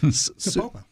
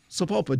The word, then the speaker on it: Sapulpa: But in this little town, which I'm not even sure I can say it correctly, it's Sapulpa. Sapulpa.